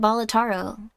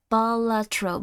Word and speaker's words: Balatro: DLC uh why do you keep calling it botaro because I don't know how to pronounce any words um balatro balatro balatro I keep calling them Astro Boy